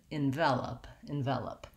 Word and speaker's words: envelope: So it sounds like the word in, and then my stress is on vel with the red tent vowel, and then I end again with an unstressed schwa at the end, envelope.